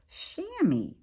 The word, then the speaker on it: chamois: up on the phone and this is actually pronounced chamois and it says that it is a goat